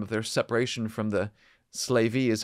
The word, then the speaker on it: Slavey: also the time of their separation from the slavey is how you pronounce it Indians estimated about 600 years ago